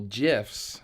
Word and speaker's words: GIF: I only text people GIFs. By the way, it's pronounced GIF, not GIF.